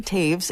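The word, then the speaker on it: Toews: So yeah, definitely check out Miriam Taves and it's spelled T O E WS.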